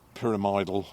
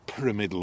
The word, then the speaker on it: pyramidal: it and those are pyramidal orchids or pyramidal orchids there's a lot of argument among Orchid Specialists about how you pronounce it it's obviously pyramid because that's the shape of the flower um so just it's